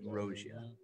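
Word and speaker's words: Rhosia: How the heck do you spell that? R-H-O-S-I-A. Rogia.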